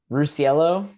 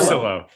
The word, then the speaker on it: Russillo: Rusciello. Is that it? Russillo. Russillo. You're Russillo? making it real. You're making it real Italian and complicated.